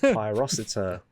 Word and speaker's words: Pyrocitor: How do you pronounce this? Pyrocitor.